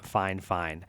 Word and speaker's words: FiFine: So it's spelled fifine, but I've heard it pronounced fine fine.